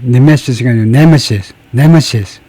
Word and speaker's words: nemesis: 하기는 네메시스가 숙적, 천적인데 이 네메시스 앞에다 액센트를 줘야 됩니다. 네메시스가 아니고 네메시스. 그 다음에 네메시스의 그 오리진 또는 에티몰로지 어디에서 나온 거냐면 from Greek, 그리스어죠.